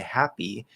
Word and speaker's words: happy: So if it's not stressed, if it's at the start of an unstressed syllable, we say happy, you don't push out the P as much. There's not really that puff of air.